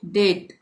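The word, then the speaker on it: debt: रहा है ब तो यहां पे हम किसका उच्चारण नहीं करेंगे बी का उच्चारण नहीं करेंगे इसको हम क्या पढ़ेंगे डेट डेट का मतलब होता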